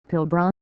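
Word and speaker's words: Pilbara: It is pronounced as syllables Pilbr.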